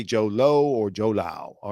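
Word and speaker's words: Jho Low: I don't know how to pronounce this guy's name. It's Jholow. I say Joe Lo or Joe Lao.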